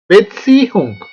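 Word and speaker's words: Beziehung: இதுல வர சட்டுக்கு ஒரு டீ போட்டு உச்சரிக்க வேணும். பெட்சி ஹுங்.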